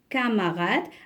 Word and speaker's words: camarade: Il y a O-N, camarade. Alors regardez, même s'il y a ici AM, on ne prononce pas le on, c'est camarade.